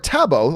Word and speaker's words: Thabo: Thabo Munalua writes, pronounced Tabo or Tabo. All right, Tabo.